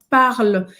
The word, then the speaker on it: parle: Essa letra final, ela é bem discreta, então é parle. É como se terminasse praticamente no L, soltando o L, parle.